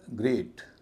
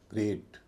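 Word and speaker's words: great: का ब्रेक इसी तरह ग्रेट जी आर इ ए टी इसमें भी इ है लेकिन इसको भी लंबा ए ही बोला जाएगा ग्रेट ब्रेक और ग्रेट ये दो अपवाद है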